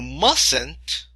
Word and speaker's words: mustn't: Then he says, you mustn't, T is silent, no T.